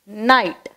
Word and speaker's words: night: Repeat பண்ணுங்க என் கூட, என் I G H T night. Next, tot. நம்ம அதை எப்படி ப்ரொனவுன்ஸ் பண்ணணும், tot.